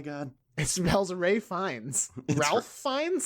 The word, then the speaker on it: Ralph Fiennes: Ralph Fiennes? It's Ray Fiennes, I'm pretty sure. But his name is spelled Ralph.